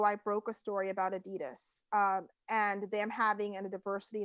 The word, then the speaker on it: adidas: so really we say adidas here but it's it's adidas is actually how that's pronounced the german company and yeah so i go to my contact for adidas and i said you